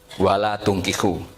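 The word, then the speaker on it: ولا تنكحوا: Ini dengan damma pada 'ta', "wala tunkihu". Ketika diucapkan "wala tunkihu", maknanya menjadi benar.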